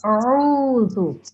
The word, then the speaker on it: أعوذ: Okay, you're saying zoo like zoo, but it's not. Dhal, this letter here, Yeah. I highlight it, pronounce by putting your tongue in between your teeth.